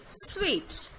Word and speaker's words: suite: Let's take a word S-U-I-T-E, but it must be pronounced in a different way, like sweet.